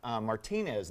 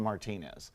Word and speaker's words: Martinez: you know this uh the town I live is outside of Augusta the Masters is its marty-mart Martinez named after a guy named Juan Martinez okay but they don't pronounce it that way for some reason George is different I'm an entire change